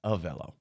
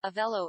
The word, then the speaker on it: Avelo: And also I mispronounced that. It's Avelo. My apologies. Avelo Airlines. Avelo.